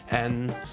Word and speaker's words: 嗯: And if you look it up in the dictionary, it's actually pronounced N.